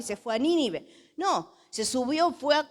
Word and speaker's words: Nínive: ciudad tenía que ir nínive con acento en la primera e i es una palabra esdrújula nínive que vaya a nínive